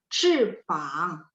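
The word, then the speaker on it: 翅膀: Kalau 翅膀的膀 itu nada 3 ya. Jadi 翅膀.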